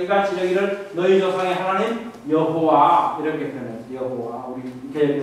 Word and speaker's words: 여호와: 이르기를 너희 조상의 하나님 여호와 이렇게 표현했어요. 여호와 우리 개혁의 성경에서 여호와 이 단어죠. 여호와 이거는 고유명사죠. 고유명사 여호와라고 표현된 이게 여기가 고유명사입니다. 원래 전통에 따르면 우리는 하나님 아도나이라고 부릅니다. 여호와라고 읽지 않습니다.